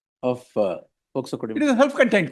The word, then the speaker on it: POCSO: your lordship would say, listen until you say POCSO, not as POSCO. Telugu. Pronounced it properly, well, and therefore your lordship continue to hear me. Generally it is done that way. I keep correcting. No, it's POCSO.